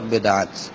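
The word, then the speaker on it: বিদআত: আপনি যেটি বলেছেন সেটা হলো পূর্ণ, সঠিক উচ্চারণ হলো বেদাত, অর্থাৎ নতুন আবিষ্কৃত বিষয়।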